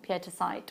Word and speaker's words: pietasite: I adore pietasite with lapis. What's the matter? I know, but that's because you're lazy in your pronunciation and I'm doing it correctly.